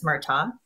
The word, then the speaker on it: Murtaugh: murtagh so um the g is silent so it's murtaugh um just for everybody